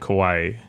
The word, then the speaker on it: Kawhi: move so Popovich and kawaii Popovich and quiet remember the car as Kawhi is like an island correct boy he's one